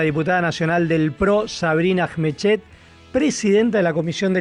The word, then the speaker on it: Ajmechet: el mundo, así que yo lo pronuncio como se escribe, pero a libre interpretación.